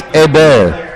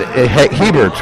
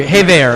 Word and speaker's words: Hébert: You don't pronounce the H. You should know that, Miggy. It's like you're a Frenchie. It's like Shea Bear when you're eating. It's Patrice Hébert.